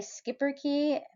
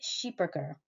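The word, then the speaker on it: Schipperke: um originating in medieval Belgium uh though many Americans say skipper key the uh correct pronunciation is sheeper uh the breed earned its Fame as shipboard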